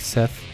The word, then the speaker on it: Seth: And Seth, not sure why I pronounced that with a double TH.